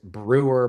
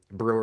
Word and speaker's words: Breuer: The the truth is the name of the company is Brewer Premium Pet Food Company. That was the original name. It's still kind of the holding company. Brewer is my surname.